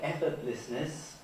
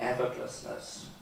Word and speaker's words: effortlessness: would have eyelet and even things like effortlessness were apparently implied by the transcription when obviously for me it would be effortlessness and I guess for all younger speakers.